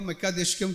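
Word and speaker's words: מְקַדִּשְׁכֶם: है तमिल में मैकादेश लेकिन हब्रू में जो है उसका जो शब्द जो है यह मकादेशकम करके यूजली आके उसका जो प्रोनाउंसिएशन होता है हब्रू यहोवा मकादेश यहोवा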